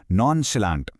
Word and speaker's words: nonchalant: Okay, इसे pronounce कैसे करते हैं? नॉनचलांट।